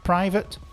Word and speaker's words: private: So private unfortunate they both have the pronunciation of at e.